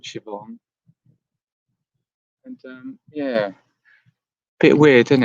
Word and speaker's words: Siobhan: here um hi siobhan that is siobhan in it i always have have difficulties with that name because of the way it's spelled i i always feel it should be spelt with an s it's only a